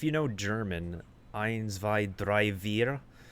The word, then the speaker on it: drei: If you know German, eins, zwei, drei, vier. Dre is 3. So it's a combination of Dragon, Hydra, and eins, zwei, drei. I think that's how it's pronounced. Drei in German. That's 3.